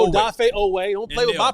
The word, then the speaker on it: Odafe Oweh: Odafe Odafe Oweh Odafe Oweh, don't play with my pronunciation.